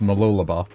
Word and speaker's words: Mooloolaba: all right well that one is malula bar even though it says uh it's Ma like almost like McDonald's but it's mooloolaba that's weird but definitely